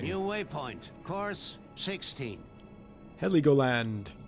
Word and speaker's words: Heligoland: Heligoland. That's gotta be it. H-E-L-I, Heli, go land. Heligoland.